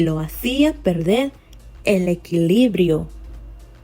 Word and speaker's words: equilibrio: Pero cada vez que subía un poco, la olla se movía y lo hacía perder el equilibrio. See where I'm putting the stress. Equilibrio.